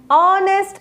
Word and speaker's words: honest: as an honest man it is silent so you should pronounce this word as an honest man and historical novel next